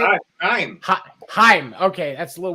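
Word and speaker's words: Chaim: Haim.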